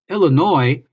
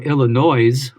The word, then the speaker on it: Illinois: Illinois, or Illinois, which is a mispronunciation, so don't say it.